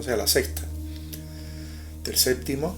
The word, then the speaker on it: séptimo: sea la sexta del Séptimo séptimo con p que el ambiente donde yo me muevo no lo pronuncia nadie séptimo Quién dice séptimo séptimo septen o seeno